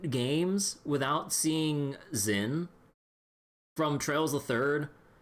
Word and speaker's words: Zin: to see Zen again, everyone pronounces his name like Jin, like or some shit. And I'm just like, wait, I was like, that's how you pronounce it the whole time?